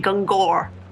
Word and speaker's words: Gungor: I'd say Gunga. Gunga. Okay. I don't know if I'm correct. Let's go with that, because from where I'm from, like originally, it'd be Gungor. Gungor. We'll go with Gunga.